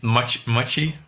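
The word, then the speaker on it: Maciej: No, it's Machi.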